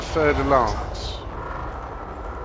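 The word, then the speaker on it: Fer-de-Lance: I've even done a fer de lance. Fer de lance is the proper pronunciation, but never another cutter.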